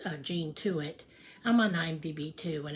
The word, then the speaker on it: Tuit: Um But, um Yeah, my last name is Tuit, t u i t. But, uh it's the e is silent. So, it's uh Jean Tuit.